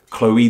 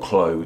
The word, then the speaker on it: Chloe: much more sense because as I said Chloe the O and the e in Chloe don't make a sound together it's not Chloe those two vowels made their own unique sounds and using this dire